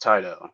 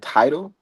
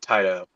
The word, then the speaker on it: Tidal: Uh, but the name of that app is pronounced Tidal, right? yeah. No. Yeah, it's right under your Apple Music. You said title. Uh yeah, Tidal.